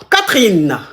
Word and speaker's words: Catherine: Et quand on veut dire tout le nom, tout le prénom, on dit Catherine. Le E ne se prononce pas. Catherine.